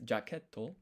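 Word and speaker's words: ジャケット: here for the jacket jacketto of course it sounds very similar but the Japanese pronunciation because of this t mark there's going to be a brief pause before we hit this toe.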